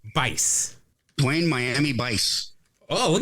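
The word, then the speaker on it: Buice: pronounce it but it's it's spelled juice but with a B oh it's Bice Blaine Miami Vice oh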